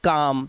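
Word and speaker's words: calm: इसी तरह से सी ए एल एम शांत रहने के लिए हम बोलते हैं काम।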